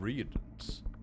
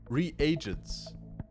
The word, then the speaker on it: reagent: This word is not pronounced reagents, even though pretty much everyone who's not a native speaker pronounces it like that. It is actually pronounced reagent. I know it's fucking strange.